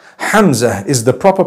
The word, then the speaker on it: Hamza: lot of people would pal is the proper pronunciation hamza hamza is the proper pronunciation hamza it starts with